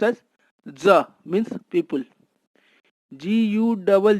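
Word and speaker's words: gens: is also pronounced as ja or g-e-n-s is pronounced as ja means people gu double g double g is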